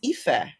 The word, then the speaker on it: Ife: wrong so which apparently i've been saying my name wrong for years apparently it's ife ah thanks parents thanks